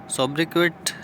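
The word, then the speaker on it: sobriquet: ठीक है, तो ये क्या होते हैं, सोब्रिक्वेट प्रोनाउंस एस्ट सोब्रिके।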